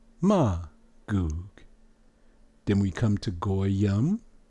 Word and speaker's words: Magog: Then you have Magog. There's no A in Hebrew. It'll be Ma. And you know the rest would be Magoog.